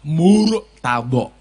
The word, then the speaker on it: murtad: Arab contoh Jawa murtad cara pengucapannya dengan menggunakan makhorijul huruf yang pas adalah murtad karena rnya ini adalah ro murqokoh tebal murtad terus Dya mulutnya agak ke depan murta kayak I YO rasa nesu r.000 ya r.